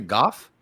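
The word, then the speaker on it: Gogh: oh oh okay yes are you supposed to pronounce it Goff you know they do in England so in the show they say Goff rather than go so yeah I didn't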